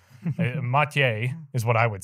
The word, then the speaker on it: Matej: don't really know how to say your name m is what I would say that's correct right it's pretty good pronunciation yeah because we have different people like